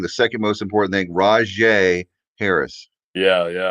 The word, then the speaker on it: Rajay: He's got the J in there, so I just gotta say Ra, first.